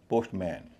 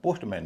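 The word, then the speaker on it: postman: पोस्टमैन पोस्टमैन लेकिन यहां पर इसका उच्चारण पोस्टमैन नहीं होता। पोस्ट मन होता है। पोस्टमन यानी एम एन का उच्चारण मैन ना होके मन हो जाता है।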